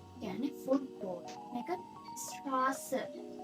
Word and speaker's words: Straße: අපි example එකක් විදිහට ගත්තොත් මෙතන තියෙනවා මේක අපි කොහොමද pronunciation වෙන්නේ කියලා. මේක Fußball. Fußball. Yani football. මේක Straße. Straße.